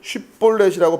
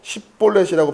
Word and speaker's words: 쉽볼렛: 6절에 보면 그에게 이르기를 쉽볼렛이라고 발음하라고 하여 에브라임 사람이 그렇게 바로 말하지 못하고 십볼렛이라고 발음하면 길앗 사람이 곧 그를 잡아서 요단강 나루턱에서 죽였더라.